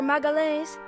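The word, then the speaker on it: Magalhães: For magalles in Portuguese the LH is a liquid L sound and O is a nasal vowel.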